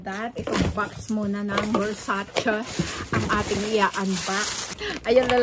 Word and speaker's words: Versace: According to Donatella Versace, it is pronounced as Versace, not Versace, Versace.